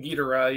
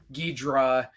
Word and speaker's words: Ghidorah: Because like the Japanese pronunciation, the way it's written down in Japanese is Ghidorah, Kingu Ghidorah.